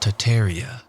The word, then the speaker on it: Tartaria: Tartaria, originally pronounced Tataria without the first R, is the name of the pre-Mongolian empire that originated in northern Asia before spanning the entire northern hemisphere.